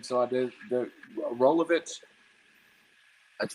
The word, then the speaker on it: Rolovich: How do you pronounce his name? So I did the Rolovich.